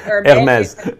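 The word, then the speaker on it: Hermès: I don't speak French, so I don't know how to say it. Hermes.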